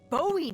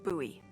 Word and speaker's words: Bowie: out this huge rusty Bowie knife. It's actually pronounced Bowie. What? No, it's like the last name, like David Bowie. Different last name.